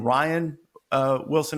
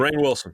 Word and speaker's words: Rainn Wilson: And the reason was the guy who played Dwight Schrute, do you pronounce his name Ryan Wilson. I don't know. It's spelled like Rainn. Differently. Rainn Wilson.